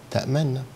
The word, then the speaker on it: تأمنا: وفي إشمام مقارن أو مصاحب لنطق الحرف اللي هو في كلمة تأمنا، ما لك لا تأمنا، فمع النون أضم الشفتين، هذا هو الأصح والأفصح، تمام.